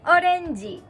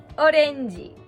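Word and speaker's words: オレンジ: Orenji. Orenji. So this is a frisbee on my head. In this case, you wouldn't say orenji-i to describe a word. You would say orenji iro no whatever you're describing.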